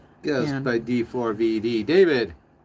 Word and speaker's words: d4vd: It's pronounced David.